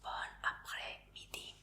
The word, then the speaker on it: bon après-midi: Entonces, buenas tardes se dice bon après-midi. Es como bonjour. Y se escribe de esta forma.